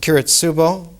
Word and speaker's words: Kiritsubo: The very first one, in Japanese pronounced Kiritsubo, the Paolonia Pavilion, the translator puts underneath Kiritsubo.